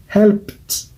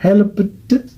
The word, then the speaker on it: helped: Donc, quand vous voyez ces mots, vous prononcez seulement le ED en T, c'est-à-dire T.